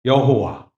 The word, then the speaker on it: 여호와: 그라는 단어에 예요 아도나이 그 그라는 단어와 아도나이 합쳐서 발음이 된게 따라합시다 여호와 여호와네 그리고 야라는 표현은이